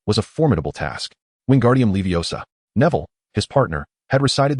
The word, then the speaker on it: Wingardium Leviosa: "It's Wingardium Leviosa, not Wingardium Leviosar. The Leviosa must be pronounced long and clear.